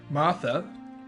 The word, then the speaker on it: Martha: Martha rhymes with mother.